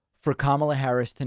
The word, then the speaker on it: Kamala: That's Kamala Harris. And I'm kidding. It's Kamala.